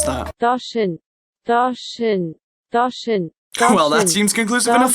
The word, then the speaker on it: Doshin: How the hell do you pronounce that? Doshin.